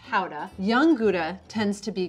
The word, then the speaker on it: Gouda: from the town of gouda which is actually pronounced hauda young gouda tends to